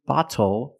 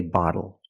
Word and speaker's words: bottle: When you see TLE or TTLE, phonetically the T is between vowels. And for this reason, the T changes to a fast D in American pronunciation. That's why we do not say little, we say little. And we do not say bottle, we say bottle.